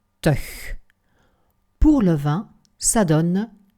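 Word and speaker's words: -tig: Les dizaines se terminent par TIG, ce qui se prononce teuch.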